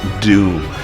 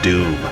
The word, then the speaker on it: Dume: they give them like doom his name is doom like he's doomed right d-o-o-m that's not how it's spelled but that's how it's pronounced so it kind of